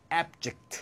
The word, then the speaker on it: abject: 당연히 형용사로 쓰이기 때문에 액센트가 앞에 있고 발음이 abject 이렇게 되겠습니다.